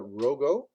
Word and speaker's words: Rogo: So I hope I pronounced your name right. yeah. I Rogo?